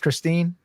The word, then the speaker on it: Kristine: Is it is it pronounced Christine?